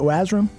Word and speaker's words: Wasram: Please follow us on Twitter at Bears Barroom and follow Shane at Wasram. W-A-S-R-A-M. Is that how you pronounce it, Wasram?